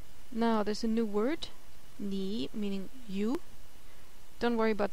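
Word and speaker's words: 你: Now there's a new word, nǐ, meaning you. Don't worry about the character right now, just remember the pronunciation, nǐ and you.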